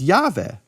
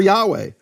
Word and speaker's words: Yahweh: 700 years later, that the Samaritans pronounce God's name as Yahweh.